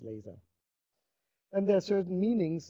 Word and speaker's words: Laser: word laser is because it's pronounced in an English way in German as well uh is is then